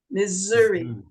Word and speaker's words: Missouri: s but it's not in in English it's Missouri it's Zuri yes and Missouri is Missouri because